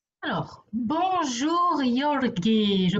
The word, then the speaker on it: Jorge: En français, phonétiquement, c'est comme si ça s'écrit R-O-R-E. Ok, Ok. Jorge. Énergétiquement, oui, parfait, super. Jorge.